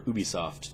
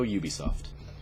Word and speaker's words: Ubisoft: brings us up to Ubisoft or who be soft depending on which way you want to present pronounce it I'm gonna go Ubisoft for ubiquitous software so Ubisoft always does